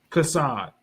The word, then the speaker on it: Chaasad: So, do you pronounce your name as Casad or Hassad? Casad. Casad.